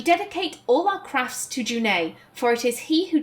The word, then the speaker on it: June: of the craft so this name is actually pronounced junai it's not june which i only learned